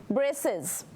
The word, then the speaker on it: braces: It's a soft C. Braces. Sounds like an S almost, right? That's why it gives you that S sound.